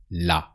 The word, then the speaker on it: là: There is là. It's not the same là as with her, but it sounds the same.